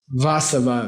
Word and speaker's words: Vasava: You say, I bow down to the Buddha, Vasava, V-A-S-A-V-A, V-A-S-A-V-A, V-A-S-A-V-A, Vasava. Okay? V-A, yeah. Vasava, yeah, Vasava. Say Vasava. Accent on the first syllable, Vasava.